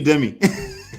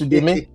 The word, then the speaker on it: Udeme: Udeme? Is that how you pronounce it? Udeme? Yeah, that's Udeme. I they say Udemy. No, it's Udeme.